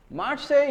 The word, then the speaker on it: Marseille: Marseille is a city, S is silent, but what is this? Marseille, again here L is silent, Marseille.